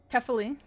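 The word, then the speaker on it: Kephale: Kafali Kafali Kefale got to not pronounce it phonically.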